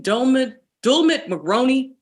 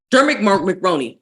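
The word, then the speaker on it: Dermot Mulroney: Dulmit McRoney? Dermot McRoney.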